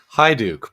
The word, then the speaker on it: Hiduk: Talking to uh, how do you uh how do you pronounce your last name? Hi, Duke.